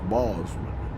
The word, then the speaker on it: Bozeman: And but our destination is Bozeman, B O Z E M A, and I guess you could say Bozeman, but I I call it Bozeman.